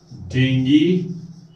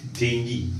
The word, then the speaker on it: dengue: हिंदी में आप बात कर रहे हैं तो आप डेंगू बोल लीजिए, कोई बात नहीं, झकास. बट अगर आप इंग्लिश में बोल रहे हैं तो से इट डेंगी, नॉट डेंगू. English pronunciation of this word is डेंगी, right?